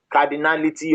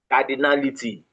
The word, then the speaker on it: cardinality: Now number four is called cardality of an event. Cardinality. Cardinality is spelled C A R D I N A L I T Y.